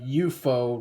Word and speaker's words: UFO: and and yeah it actually says uh euo rather than UFO because that's how the Japanese pronounce it yeah so